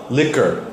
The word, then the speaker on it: liquor: in England or something liquor liquor just like a CK sound it sounded like you